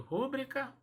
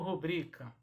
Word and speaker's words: rubrica: Como é que eu pronuncio? Rúbrica ou rubrica? D aqui é sua rúbrica. É assim que ouvimos? Mas esta palavra trata-se de uma palavra paroxítona. Então, a sílaba tônica é a penúltima, é o bri.